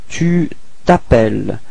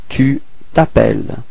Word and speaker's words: tu t'appelles: We're starting with voyelle, so it's the same thing as previously, disappears, so we get this tu t'appelles, okay, final S is not pronounced, tu t'appelles, repeat.